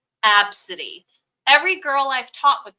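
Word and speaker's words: Abcde: uh box then but AB B CDE e is a name and it's pronounced absidy every girl I've taught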